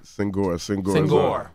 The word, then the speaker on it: Senghor: I don't know how to pronounce his last name, but I'll just go with Shaka. Shaka Senghor. Senghor.